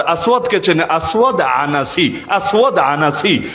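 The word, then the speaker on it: العنسي: চেনে আসওয়াদ আনাসি আসওয়াদ আনাসি অনেকে বলে আনছি মূল উচ্চারণ আনাসি এই দুইটা ভন্ড নবীর মধ্যে আসওয়াদ আনাসীকে আল্লাহর নবী নিজের জীবদ্দশায় হত্যা করিয়েছেন।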